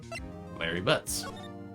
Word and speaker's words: Larry Butts: Larry Butts. Rhymes with Harry Butts.